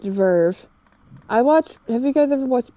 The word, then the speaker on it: VRV: It's pronounced Verve.